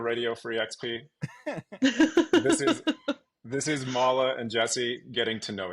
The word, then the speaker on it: Mala: I'm Mala, is the pronunciation on that.